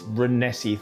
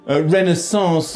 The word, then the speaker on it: Renaissance: I bet he's enjoying this Renessi thing. Renaissance. Oh, Gordon.